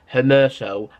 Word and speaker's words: Hermoso: We're getting linked with Mario Hermoso, that's how you say his name, 24-year-old centre-back from Espanyol.